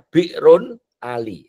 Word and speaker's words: Bir Ali: Untuk pengetahuan saja kenapa disebut Bir Ali itu bacanya bi'run Ali.